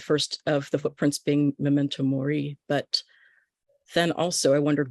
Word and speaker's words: memento mori: that poem thank you and Memento Mori that's how you say it okay I always say it wrong I I may say